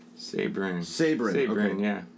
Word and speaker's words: Sabourin: Anyway, how do you pronounce your last name? Sabourin. Sabourin. Sabourin, Okay. yeah. Sabourin. So I say it. Sabourin.